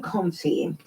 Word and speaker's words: confit: Yes, the confit.